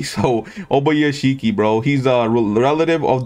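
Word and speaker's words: Ubuyashiki: So it's called Kaguya Obayashiki, okay? Simple as that. You know Obayashiki, like Ishiki from Naruto, but hey, we just put Obaya instead of the E. So Obayashiki, bro.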